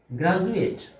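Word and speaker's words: graduate: আবার গ্রাজুয়েট এখানেও ডি বর্ণটির উচ্চারণ বাংলা বর্গীয় জ এর মত।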